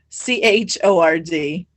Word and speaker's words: chord: reference to circles chord but it's spelled like chord c-h-o-r-d but you say it chord so uh i don't